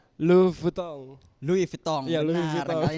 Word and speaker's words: Louis Vuitton: cara bacanya Louis Vuitton. Louis Vuitton.